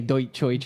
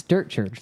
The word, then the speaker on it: Dirt Church: I listened to the last episode, and unless you know me and you know that I say Deutschchurch instead of Dirt Church, Yeah. it's Dirt Church, the Dirt band Church.